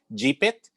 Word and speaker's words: GPIT: As Greg said, I prefer the term using the word or the pronunciation GPIT, because as you said, it's about Jeeps and informal transportation.